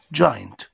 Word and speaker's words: giant: لاحظ لما نطقت جاينت قلت حرف الدي بس الدي خفيف في بعض الكلمات زي كلمة جاينت أو اندن جارد. اندن جارد تحس إن الجي لما يجي وراها اي أو اي تنطق دي خفيفة، يبقى جاينت giant.